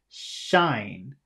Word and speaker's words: shine: number two which is shine shine and uh in order to say number two you have to bring your tongue up more so Patu uh